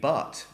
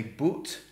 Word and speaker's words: but: But in fact, the majority of Great Britain, of the United Kingdom, would not say but. They would say but to rhyme with put. But in London and America, but and put.